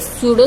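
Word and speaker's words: pseudo: And amorphous solid में क्या है, इट्स आर या amorphous solids are called स्यूडो solids, not true solids, it's स्यूडो solids, P silent है, स्यूडो solids या super cooled liquid, ठीक है।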